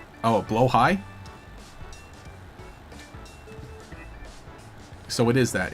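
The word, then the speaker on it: Blåhaj: Oh, Blowhigh? So it is that. It's Blahai. Something like that. The shark. The shark. The O is pronounced in some weird way.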